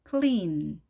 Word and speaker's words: clean: clean. 입술이 옆으로 쭉 늘려진 상태로 발음하셔야 되기 때문에 자, 우리가 하는 clean과는 완전히 다르죠.